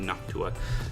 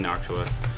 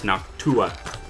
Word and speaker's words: Noctua: It's actually Noctua. I've been saying Noctua. It's Noctua.